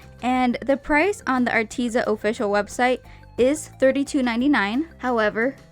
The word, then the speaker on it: Arteza: once again working with arteza or arteza i was never really told how it's pronounced but i've never been corrected so i'm gonna call it arteza so arteza sent me